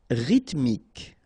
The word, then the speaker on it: rythmique: Rythmique, remember, Y pronounced like I and then H doesn't exist.